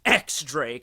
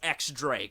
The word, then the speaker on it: X Drake: name is not pronounced X Drake it's pronounced Diaz Drake because you get it X means 10 as a Roman numeral well I'm sorry but